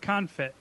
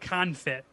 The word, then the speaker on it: confit: counterfeit duck duck confit am i saying it right i mean it's pretty you're much closer to it this time you added a an eye to it the last time a couple of times and said kind of